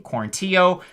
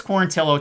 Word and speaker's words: Quarantillo: know apologies to him i kept saying quarantio but it's quarantillo taking on kyle nelson